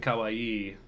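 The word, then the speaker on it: かわいい: on you Youtube cakon I'm still learning how to pronounce double consonants in Japanese it seems to make a big difference like it can be the difference between Kawai scary and Kawaii cute yeah go go works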